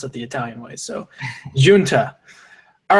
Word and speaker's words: Giunta: have blank uh G in is that's another name that am I pronouncing that right your uh your mic is muted there we go I said it's it's Italian it's Jun Jun excuse me excuse me